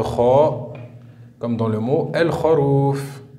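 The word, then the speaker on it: الخروف: Lettre suivante, la lettre kha, comme dans le mot el-kharouf. El-kharouf, le mouton. La lettre lem est porteuse d'un soukoun. On écrit la lettre et on la prononce el-kharouf.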